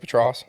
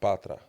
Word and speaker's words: Patra: Patross patra.